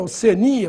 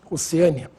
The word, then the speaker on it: Oceania: oceânia e Oceania né a forma mais usada Sem dúvida nenhuma é Oceania pro continente portanto sem acento embora alguns falem oceânia deve ser por causa de oceano deságua desagua bom nesse